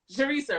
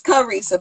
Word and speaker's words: Carissa: Sharisa, right? I'm saying it right? It's Carissa, but it's okay.